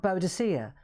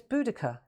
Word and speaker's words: Boudica: Apparently it was the Romans, the enemy, who called her Boadicea because of the way her name is spelt. Boadicea, right? I get it. But apparently her name is Boudica.